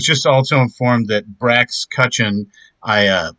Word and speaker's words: Cutchin: I was just also informed that Brax Cutchin, I mispronounced his name last time, uh, Wait so a now minute. we're there. There's no S and or Z on the end of that, so sorry, buddy.